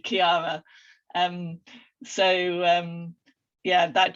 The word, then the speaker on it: Chiara: i named my company because i have to spell it every time because so um on linkedin i'm i'm um sharon greene at kiara consultancy um on twitter i'm sharon g kiara